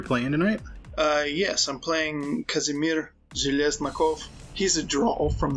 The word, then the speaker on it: Kazimir: We're gonna learn about how did you pronounce it? Kazimir? Kazimir. Okay. So Kaz?